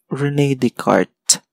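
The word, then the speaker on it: René Descartes: or cartesian plane is rene de carte pero it is spelled as rene descartes that is rene descartes kasi french mathematician so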